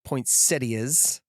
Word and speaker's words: poinsettias: And he has poinsettias, which we joked off air, which is the proper pronunciation, and wreaths, and it's all made by